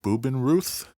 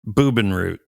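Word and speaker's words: Bubenreuth: So they go to nearby, called Bubenruth. I get the feeling you are pronouncing German like I pronounce Spanish. That could very well be. Bubenroot. Is that what you just said?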